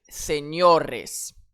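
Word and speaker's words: señores: Dans ce mot ici, j'ai un s. Ça fait partie des consonnes qui accentuent sur l'avant-dernière syllabe. Donc, seores, seores, j'accentue sur le ha.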